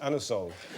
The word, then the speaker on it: Anusol: You can't ask for anusol in that way in a shop. You have to pronounce it anusol.